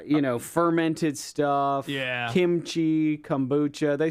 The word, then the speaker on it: kombucha: And I was like, but it's kabucha now. I'm saying it and I can't even say it right. But uh but yeah, you got to be real. You got to be Is it kombucha?